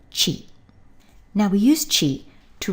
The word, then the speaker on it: 地: land and by extension a place and it's pronounced Chi now we use Chi to write the Japanese